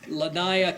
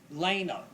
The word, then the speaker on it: Lanaya: And from Clearwater Little League, we have Lanaya. It's pronounced Lena.